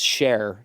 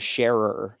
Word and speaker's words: Scherer: And so literally she's like, no, our last name is Cher, not Scherer. And I was like, that's crazy. And then some people pronounce it Scheer because it's just a German name.